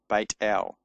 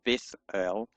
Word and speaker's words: Beit El: Beit El. So it's not a th, it's not Beth El, it's Beit El.